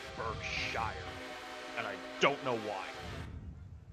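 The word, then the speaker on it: Berkshire: how correct it is the actual name for the wheel Arrangement is pronounced burshire and I don't know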